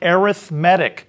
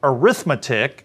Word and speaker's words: arithmetic: the word looks like arithmetic and we sometimes pronounce it that way but the same spelling also can be pronounced arithmetic if you uh emphasize a different syllable and this is what